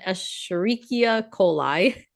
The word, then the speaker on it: Escherichia coli: coli, so pronunciation Escherichia coli.